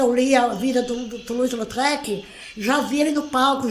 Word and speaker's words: Toulouse-Lautrec: Então escreve Lautrec e a gente fala Lautrec.